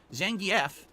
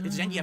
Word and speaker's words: Zangief: Jay Kuma says Zangief, Chun-Li, Ryu, Manon. I know it's Zangief, but everyone says Zangief.